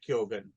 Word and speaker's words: Keoghan: There's some other famous figures with that spelling which are pronounced Keegan, but I think in this case it's Barry Keoghan.